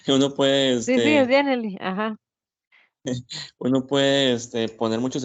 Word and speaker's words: Genially: en Genially uno puede, bueno, la pronunciación ahí, uno puede, Sí, sí, es Janely.